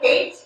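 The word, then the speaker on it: Haight: Dr. Hate? It's H-A-I-G-H-T, like the famous street.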